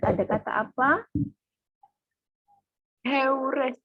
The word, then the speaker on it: heures: Heures, bacanya. Salah, madam. Huruf H dalam bahasa Prancis dilafalkan atau tidak? Tidak, madam.